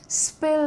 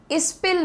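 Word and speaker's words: spill: स्पिल the beans, pronunciation तो आसान है इसका, स्पिल, इस्पिल नहीं होगा, इस्पिल नहीं, आपको स साउंड को पहले रखना है।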